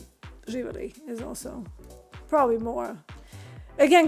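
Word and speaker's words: živeli: I think it's very similar to Russian in that uh Oživele živele. Yeah yeah, that's right. Živele. Um uh some people say Nazdravlje but Živele is also probably more.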